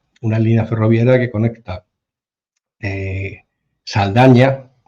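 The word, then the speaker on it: Saldanha: Bueno, pues hay un tren, una línea ferroviaria que conecta Saldaña, se pronuncia así Saldaña, porque lógicamente son enclaves portugueses, que está en la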